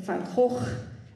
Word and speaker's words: van Gogh: The famous artist Vincent van Gogh, or van Gogh, if you want to pronounce it correctly, said this about his passion.